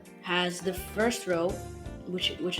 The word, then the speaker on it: ሀ: here which is the example area we will have an example that that would go with each